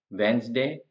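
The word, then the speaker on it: Wednesday: है उसका नेक्स्ट है वेनसडे इसमें जो डी है वो साइलेंट है ये पहले वाला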